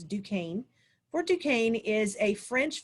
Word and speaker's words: Duquesne: particular right here fort duquesne it's spelled kind of funny but fort duquesne right here looks like it's pronounced duquesne but it's not it's duquesne for duquesne is a